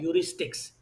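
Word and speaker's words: heuristics: और purchase decision में शुरू वाले क्वेश्चंस याद करें कि consumer often take mental shortcuts called यूरिस्टिक्स। ये एच साइलेंट है इसके अंदर, इसको यूरिस्टिक्स कहते हैं।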